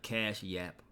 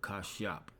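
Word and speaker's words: Kashyap: Not Cash Yap, but Kashap. That's how you would say his name, all right, when we go to the Hebrew.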